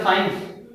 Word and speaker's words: science: एस और आई ई मिलकर बोलेंगे बनेगा साइंस।